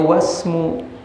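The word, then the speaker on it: وَاسْمُ: Ini bacanya wasmu. Kenapa? Karena hamzahnya hamzah wasol. Hamzah wasol itu ada tulisannya tapi tidak ada hurufnya.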